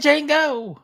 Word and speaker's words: Django: Jacob, you did Django. The D is silent.